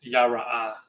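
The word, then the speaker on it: יָרֵא: And the way it's pronounced is yara.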